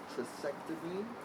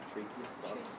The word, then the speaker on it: tracheostomy: all sounded clear, and patient has no trachectomy or how do you say it? Tracheostomy. Oh, tracheostomy. Tracheostomy.